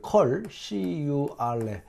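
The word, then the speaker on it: curl: 그다음 이제 세 번째는이 컬이라고 읽어요. 컬 이게이가 뭐냐면 이게 전개거든요.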